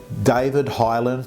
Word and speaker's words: Highland: I've got with me David Highland from Highland Property Estate Agents. Have I said it right?